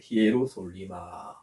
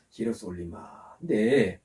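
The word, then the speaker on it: Ἱεροσόλυμα: 스트롱람바, 즉 사전에 가면 2414번을 찾아가면 이렇게 헬라어로 적혀 있는데 이 발음을 정확하게 하면 히에로솔리마입니다. 히에로솔리마. 한번 따라 해보시기 바랍니다. 히에로솔리마.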